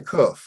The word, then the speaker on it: kuf: So we're at the kuf. I spell it Koof. It has the sound of the letter K.